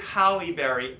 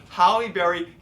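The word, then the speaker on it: Halle Berry: game yes I know it is halberry H H halberry hry and Demi more and Demi Mo but but but anyway but Michael D he goes Holly Berry dami Moore John mispronounce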